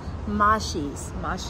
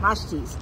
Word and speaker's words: Mashti: Mashti? Mashi's. I don't know how to pronounce it. Mashti's. Yes. Mashti's Malone's.